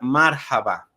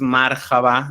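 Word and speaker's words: مرحبا: Es relativamente sencillo, decimos hola al saludar, marhaba. Aquí también pues mi pronunciación obviamente no es perfecta, la H no es como la decimos nosotros, es decir, no es marhaba, no es como J, que a veces lo decimos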